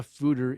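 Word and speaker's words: foeder: so what is a fooder a it's a dutch word fooder pronounced food er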